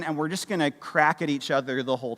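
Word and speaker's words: craic: is it different well they call it the crack c r a i c I did check that pronunciation multiple times right they call it the crack right which is this cultural value of when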